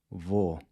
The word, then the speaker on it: vou: Now listen to our next word, which means “I’m going”… “vou”… “vou” “**vou**”. So the key here is to keep the /o/ sound nice and short—“vou”.